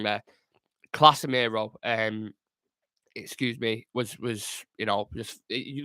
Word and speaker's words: Casemiro: I did pronounce it wrong there. Casemiro, excuse me, was just you look how he was on the ball, just absolute there, worlds apart.